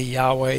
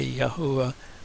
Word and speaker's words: Yahweh: And you can say Yahweh, Yahuwah, I say Yahweh, that's how I know it.